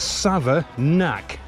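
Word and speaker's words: Savernake: go Sava nake Forest n-a-k-e bake make sake Lake take but apparently it's Sava knack all right so that's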